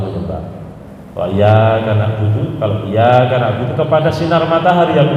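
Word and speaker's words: إِيَّاكَ: Contoh, iyyaka na'budu itu ada tasydid. Kalau bacanya iyyaka na'budu wa iyyaka nasta'in, iyyaka na'budu dan iyyaka na'budu, ono tasydid dan tidak, ternyata maknanya beda.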